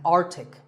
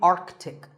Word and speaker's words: Arctic: Pole of the earth it's mispronounced by many as Arctic but it's actually Arctic the sea in the middle is not silent similarly aunt Arctic and